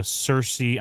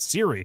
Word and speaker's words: Ciri: IQ moment here with uh Cersei I say Cersei all the time why am I saying that Siri sorry uh smash that like button like I want to smash my head up against the wall for getting the name wrong for this you know confusing these two Naughty Boys so